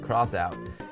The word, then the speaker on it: X-Out: It looks like X-Out, but it's actually pronounced Crossout.